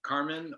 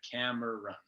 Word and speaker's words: Cameron: from you um yeah it's either carmen or oh yeah yeah yeah cam i just the syllables right camera run yeah you would think